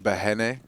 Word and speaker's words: Breno: I can't remember how he the Brazilians would say it like Behene. Yes. Something like just like short one, Behene. But for us, it makes it a lot easier to call him Breno.